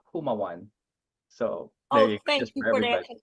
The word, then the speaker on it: Jumaw: you coach so um it's silent Jay like Jose so it's haaan so thank you for